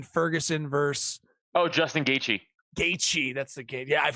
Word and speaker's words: Gaethje: Gaethje, that's the game.